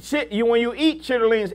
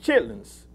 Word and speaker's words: chitterlings: When you eat chitterlings, it's pronounced chitlins.